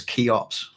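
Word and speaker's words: Cheops: which has i think the greeks known as keyops you would spell that with it if you want to search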